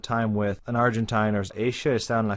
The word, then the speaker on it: ella: The double L is a sh. So, ella está en la calle.